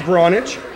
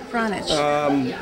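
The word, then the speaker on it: Vranac: It's pronounced Vranich. Vranich.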